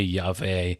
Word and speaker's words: Yahweh: It can be pronounced somewhere between the English W and V. So Yahweh Yave, something like that.